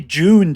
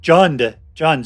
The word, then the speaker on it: Jund: All right, so here we are with All Will Be Juned. And it is, I always pronounce that right, Jund, sorry.